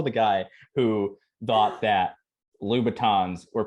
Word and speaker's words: Louboutin: I'm also the guy who thought that Louboutins were pronounced Louboutins, because I was like, oh, it can't sound like Louis Vuitton.